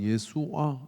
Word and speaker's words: 예수아: 여호수아는 예수아 이게 원어 발음입니다.